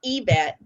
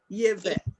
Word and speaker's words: Yvette: Oh, And and then- you pronounce my name Yvette, like Yvette. like you said the letter E.